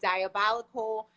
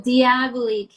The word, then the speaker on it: Diaboli: you pointed it out i was completely mispronouncing i was pronouncing it diabolical but i like diablo kill diabolique i love it